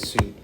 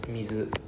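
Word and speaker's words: 水: When we put together with kanji, we pronounce it as sui. When it is alone, we pronounce it as mizu.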